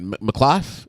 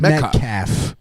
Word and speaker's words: Metcalf: It's not Melclaff. It's what is it? McClough? Is it McClough? I think black folks like subconsciously have refused to learn shitty white names. Is it McCleef? Like, how do you say it? McClough? Somebody sounded out. Metcalf. It's That's what I said. It's Metcalf. Metcalf.